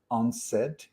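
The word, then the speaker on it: UNCED: conference that was called u-n-c-e-d when when you pronounce it it's unsaid i love these type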